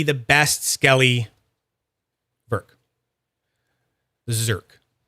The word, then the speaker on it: Zerk: best Skelly ver the zerk it's funny because you can just spell it a z e r KK right like the ver but it's a zed instead zerk and it's the you guys